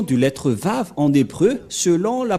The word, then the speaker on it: Vav: Voilà le Vav. Vav ou W-A-W. Et comment ça s'écrit, comment ça se prononce? C'est clairement V.